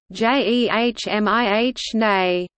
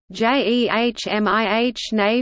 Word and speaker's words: Gemini: project was named is commonly pronounced the last syllable rhyming with I however staff of the